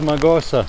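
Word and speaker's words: Mağusa: my trip to or as far as i hear in turkish it's pronounced magosa i have heard one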